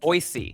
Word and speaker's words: Boise: The correct way to pronounce it, Boise.